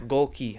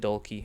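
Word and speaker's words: Gohlke: Oh, Jack Golki. I said Dolki.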